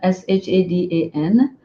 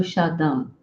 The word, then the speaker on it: Shadan: Shada so that became my nickname and Shada is spelled s h a d a n uh at one point I was going to